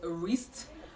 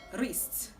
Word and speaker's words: wrist: This word is commonly pronounced wrist, but the right to pronounce this word is wrist. From the way I pronounce this word, you observe that the W in that word is silent.